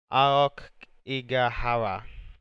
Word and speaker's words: Aokigahara: But the actual name is, so if I pronounce it wrong, it's Aokigahara. Sorry if I pronounced it wrong, but yeah, that is the name of the place Logan has visited.